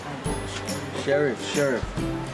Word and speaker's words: Sheriff: Sheriff.